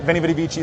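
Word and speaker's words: veni, vidi, vici: Veni Vidi Vici, they say, but in Latin, you're not really supposed to say V, you're supposed to say W, and it's a good motto.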